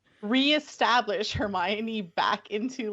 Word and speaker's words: Hermione: least the first four books I was saying her my own so I'm really pleased at least this time we get to like reestablish Hermione back into like the naming lexicon and be